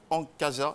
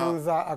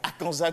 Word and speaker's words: Akanza: c'est bien. Akanza Pardon, j'ai quelques petits soucis parfois avec les prononciations. Monsieur Akanza.